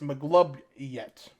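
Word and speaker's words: Maglubiyet: __ ] yeah the mighty one M it's pronounced mlob yet mlob yet mlob oh I've heard of him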